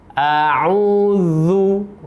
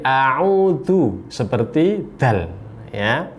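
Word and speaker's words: أعوذ: Za ini makhrajnya berada di ujung lidah dengan ujung gigi seri yang atas. A'udzu, zu. Kalau kita salah dalam membacanya, bisa jadi akan berubah menjadi a'udzu seperti dal.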